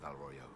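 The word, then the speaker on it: Val Royeaux: they see reason in val Royo bellroyo that's how it's pronounced Val Royo okay so let's go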